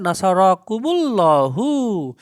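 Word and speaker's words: نصركم الله: আল্লাহ সবচেয়ে ভালো হয় এটা ভালোভাবে উচ্চারণ করতে গেলে হবে নাসারাকুম আল্লাহু নামে বলবেন নাসারাকুমুল্লাহু নাসারাকুমুল্লাহু আল্লাহ তোমাদেরকে সাহায্য করবেন দেখেন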